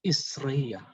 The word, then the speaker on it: igreja: Jadi kalau kita perhatikan baik, kata Portugis untuk igreja itu diucapkan isreia. Jadi I dilafalkan sebagai I, G dilafalkan sebagai S, kemudian R, kemudian E tetap E, R tetap R, J jadi Y, dan A tetap A.